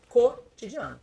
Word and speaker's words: cotidiano: Cotidiano com C só tem um som. Cotidiano. Agora se você vai escrever com q U, vai fazer o de tombo do U com o o. É cotidiano, tá legal?